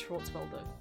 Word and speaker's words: Schwarzwälder: This is Schwarzwälder. They don't pronounce the umlaut.